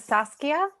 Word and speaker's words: Saskia: My name is Saskia. Nice. I tell children it's like a sassy skier.